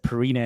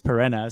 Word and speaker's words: Perena: Making sure I pronounce it correct because I always said Pirina and then you correct me on Twitter. It's Pirina.